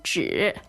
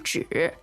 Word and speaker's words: 纸: Yes，还有一张纸，还有一张纸 Okay. So this 还有 meaning means in addition or also. good. 还有 and one piece of paper. 一张纸，一张纸， So the word for paper